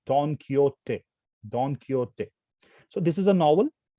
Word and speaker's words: Don Quixote: was a spanish novelist this don quixote is a very tough word to pronounce but there are ways to pronounce it i prefer to pronounce it as don quixote so this is a